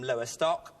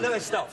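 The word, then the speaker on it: Lowestoft: new cosy yes is that the way you pronounce it new cosy in Norwich you come originally from lower stock yeah well most of us do de oh lowest off sorry lowest off but you have lived in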